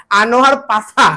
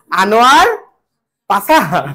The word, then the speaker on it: আনোয়ার পাশা: কে লিখছে আনোয়ার পাষা এখন তোমরা যারা স উচ্চারণ করতে পারো না তারা কি বলবা আনোয়ার পাছা না আনোয়ার কি পাষা আনোয়ার কি পাষা তোমরা